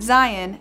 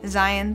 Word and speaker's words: Zion: and lovely and thirdly lion rhymes with my son's name zion zion the lion and he has a